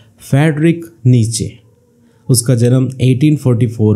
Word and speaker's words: Nietzsche: pronounce किया जाए तो पहला सिलेबल नी बोला जाना चाहिए और दूसरा सिलेबल चा बोला जाना चाहिए तो दोनों सिलेबस मिलकर नीचा बनाते हैं तो इस प्रॉब्लम को